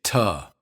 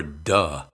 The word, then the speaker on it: to: When the word to comes after a word ending in a voiced sound, it's commonly pronounced with d instead of t. Also note that when it's unstressed, it's usually pronounced with instead of oo. We say ta or duh, not to or do.